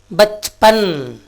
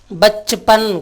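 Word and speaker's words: बचपन: இப்போ ப ச ப ந, இந்த 2வது எழுத்தையும் 4வது எழுத்தையும் நம்ம மெய்யெழுத்து மாதிரி உச்சரிக்கணும். பச்பன், பச்பன் குழந்தை பருவம்.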